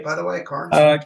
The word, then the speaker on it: Cairns: And then whenever I talked to somebody, they would say, "You should meet Cairns." Am I saying your last name right, by the way, Cairns? Cairns is how I pronounce it.